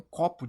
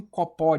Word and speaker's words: copo: Copo, cara, eu falo copo, me vê um copo de suco. Eu falo me vê um copó de açaí.